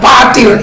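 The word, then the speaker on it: πατήρ: Seringkali saya katakan patir itu, ya, dalam pronunciation yang benar bahasa Yunani, pater tulisannya, tapi menulisnya karena di situ ita, ya, di tengah-tengah tap and ro itu ada ita. Itu dibaca i, bukan e, bukan epsilon.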